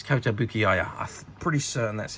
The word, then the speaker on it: Kotobukiya: I've never been 100% sure how you pronounce that, but it's Kotobukiya.